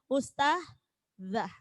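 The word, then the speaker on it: أستاذة: Seperti kita kalau memanggil ustazah, biasanya ustazah, ngoten nggih. Padahal itu adalah huruf zal, ustazah.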